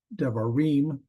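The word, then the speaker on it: דְּבָרִים: a pearl deim um so the devarim the last syllable that's the um accented one and they call that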